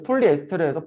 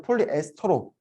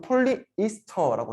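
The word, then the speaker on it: polyester: 그래서 아밀레이스, 뭐 리파제도 라이페이스 이렇게 바꾸는 것처럼 얘도 이제 폴리에스테르에서 폴리에스터로 바꾸고 있는 추세여가지고 지금 이렇게 나온 거고 폴리에스테르랑 같은 말이고요. 미국에서는 폴리이스터라고 해요. 이스터.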